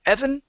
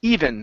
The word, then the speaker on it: even: try this word here instead of Evan okay this word is e even he even gets even yes yeah he